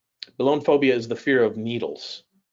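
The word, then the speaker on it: belonephobia: the by the way uh the fear it's pronounced balloon phobia balloon phobia is the fear of needles okay let's say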